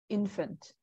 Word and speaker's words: infant: So just be careful, like you when you pronounce it, it sounds like there's just a little bit of like curling of your tongue, so it sounds like there's an R sound somewhere in here. So it's infant.